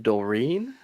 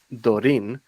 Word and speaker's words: Dorin: there's a girl's name doreen so i've got i've gotten called that i'm like no my in my native language you would say dorin but he wouldn't put an accent on the e don't worry doreen